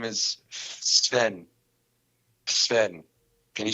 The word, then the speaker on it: Sven: the s that go together right there like sven well it's actually spelt s-v-e-n wait what is